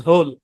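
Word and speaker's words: whole: ব্যতিক্রমও আছে ব্যতিক্রম কি তবে নিচের শব্দগুলোতে ডব্লিউ সাইলেন্ট থাকবে এইচ উচ্চারণ হবে ওই ক্লাসেও কিন্তু চারটা শব্দ দেখাইছিলাম হু হুম হুজ হোল ব্যাস মুখস্ত করেন মানে নরমালি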